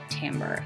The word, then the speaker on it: timbre: element of music is timbre now i know that the word looks like timber but i promise it is actually pronounced timbre and the actual musical